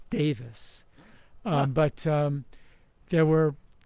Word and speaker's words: Davies: the last name as Davies, Ray Davies, but it's actually pronounced he pronounces it Davis.